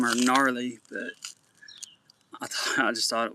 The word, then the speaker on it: Narleigh: So I don't know what possessed me to name her Gnarly, but I just thought it was funny. And she, but it's spelled Narleigh.